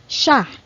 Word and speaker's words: siya: Next is he or she is siya. Siya. Or you can also pronounce this like siya, but normally in casual conversations, we pronounce this as siya.